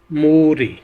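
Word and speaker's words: 물이: ये लफ्ज़ है मुल ई, इसको हमने प्रोनाउंस करना है लिंकिंग रूल के हिसाब से कि ये लफ्ज़ जो है पश्चिम में कॉन्स्टेंट, ये ईयंग की जगह लिंक कर जाएगा तो लफ्ज़ प्रोनाउंस होगा मूरी, मूरी।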